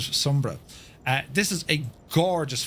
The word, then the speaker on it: Sumburgh: then uh it's out towards uh Sombra Sberg but I think they pronounce it Sombra.